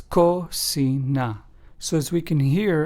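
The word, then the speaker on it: cocina: word kit for example Kasa which means House in Spanish is pron anounced ASA clo which means clear in Spanish is pronounced as clo and Kina which means kitchen in Spanish is pronounced as coina so as we can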